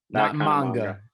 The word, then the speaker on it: manga: Not manga.